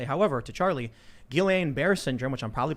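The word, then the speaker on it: Guillain-Barré: that i will also say however to charlie guillain-barre syndrome which i'm probably pronouncing wrong always mispronounced my understanding is actually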